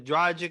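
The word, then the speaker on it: Dragić: or Jimmy at the 3, and then Tyler at the 2, and then Dragic is at that point, and Duncan Robinson is coming off the bench.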